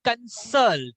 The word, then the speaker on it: consult: So guys, it will be consult. Salt will have more emphasis.